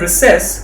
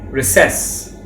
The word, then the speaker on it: recess: a recess over here the word recess has two pronunciations if you are in britain you will say recess but if you are in america you can say recess i would usually bring